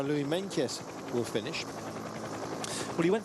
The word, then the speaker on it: Meintjes: I know that Meintjes, I beg your pardon, is the pronunciation, despite that there's no K in the middle there.